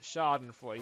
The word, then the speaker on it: schadenfreude: way the words felt you would never think it actually is pronounced schadenfreude you think it was like sure from this Shiggy or something yes so another good